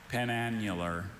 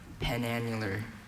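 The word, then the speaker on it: penannular: And can I hear the pronunciation again? Penanular. Penanular.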